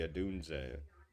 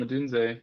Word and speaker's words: Odunze: I know you're gonna play one of these Bears, the Adunze. I can never say his name. Yeah, Rome. yeah. You had it, Rome Odunze.